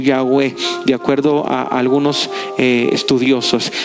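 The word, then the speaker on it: Yahweh: tradujo a nuestro idioma jehova pero realmente la el pronunciamiento correcto la pronunciación correcta sería llave o yagüe de acuerdo a algunos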